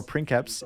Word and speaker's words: princeps: These houses are led by princeps or princeps if you use the Latin pronunciation, and below him are barons which can hold a variety of titles.